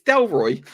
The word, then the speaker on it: Delroy: yes i do know dela roy lindo yes adele roy lindo his name's not it's delroy is that how you pronounce it yeah it's del roy lindo yeah he's the he's